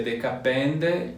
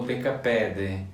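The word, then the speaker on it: δεκαπέντε: A gente fica em dúvida às vezes se é decapende ou decapede. Sim. Eu acho que depende um pouco do lugar. Região, né? E também as duas pronúncias convivem hoje.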